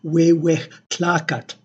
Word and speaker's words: Huehuetlacatl: as the but rather it is aspirated, it is a fricative, so it is pronounced more like the H of English and spelled with the J of Spanish. So this would be sound more like Huehuetlacatl.